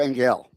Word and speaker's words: Engell: Is it Angel or you go by Angel or Angel? Oh, my last name is pronounced Angel. It's a German last name.